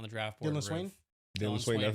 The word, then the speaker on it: Dalen Swain: Dylan Swain, that's how you say it?